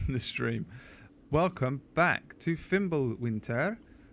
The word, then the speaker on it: Fimbulwinter: Stream welcome back to fimble Winter you have to say it like that like a Swedish they you go like